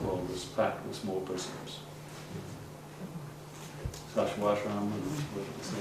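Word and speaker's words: Sacsayhuamán: Sashwashram, that's the right way to pronounce it, in Peru.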